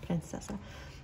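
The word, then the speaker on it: принцесса: So we have, this person sees you like a princess, that's how they say it in Russian, princessa.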